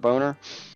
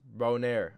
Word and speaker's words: Boner: scooter McNutt what's up boner bro it's pronounced bone air I'm French miss Turner or beau